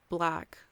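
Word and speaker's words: 6lack: His name is Black, but it's spelled like the number 6 and then lack.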